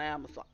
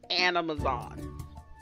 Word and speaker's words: Animazon: The only other thing we can do is discover new seeds on Amazon. Animazon. I almost said it wrong.